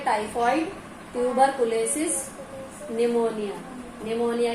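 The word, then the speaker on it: pneumonia: निमोनिया की spelling में P silent है, मैंने बताया था लास्ट टाइम।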